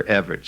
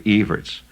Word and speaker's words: Evert: read Chris evertz uh or if you prefer Evers see that's the mispronunciation it's actually evertz Chris E's uh uh